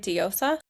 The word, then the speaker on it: Diosa: Diosa?